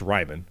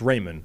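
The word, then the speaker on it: Raimann: So I think it should be pronounced Ryman and is being pronounced Raymond on the basis that that's what Americans can handle.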